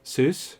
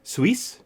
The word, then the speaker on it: Seuss: that down is because people always mispronounce seuss it's swiss huh that's just me being pedantic and i'm sure i didn't even get that right dr soyuz or dr zeus but they also point